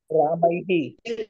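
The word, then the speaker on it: रामैः: बहुवचन क्या बोला रामैही राम ही हां अब यहां पर उच्चारण कैसे हुआ रामैही क्योंकि विसर्ग से पहले यह स्वर आया इसलिए राम ही ठीक है ऐसे उच्चारण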